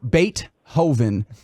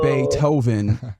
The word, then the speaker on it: Beethoven: he he might have pronounced it bait Hoven as opposed to bit Hoven um that's rough that's